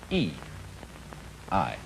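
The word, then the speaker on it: 義: call not law but justice this word is pronounced e i and justice in this sense corresponds rather to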